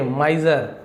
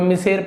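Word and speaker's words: miser: देखिए माइजर इसे हम बहुत से लोग जिसे उच्चारण करना नहीं है उसे मिज़र पढ़ सकते हैं। कोई मिसेर पढ़ सकते हैं। बट इसे क्या बोलते हैं? माइजर जा।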